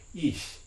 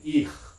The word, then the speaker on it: ich: like first person, and it's pronounced with a palatal fricative, ich, right? Not with a velar one, ich, right?